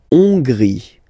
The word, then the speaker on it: Hongrie: La Hongrie. So remember, H doesn't exist, so you don't pronounce it. So it starts with O-N, on, and then gris, final E, not pronounced. La Hongrie.